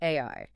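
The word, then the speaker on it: 愛: He points out that the Japanese kanji for love is literally pronounced AI.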